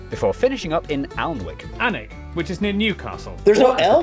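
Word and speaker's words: Alnwick: in quernmore quarma before finishing up in alwick anik which is near Newcastle the people from the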